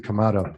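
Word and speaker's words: Kamado: thank you I have the kamato is how you say it not tomato it's not kodo Joe it's kamato Joe tomato Joe huh how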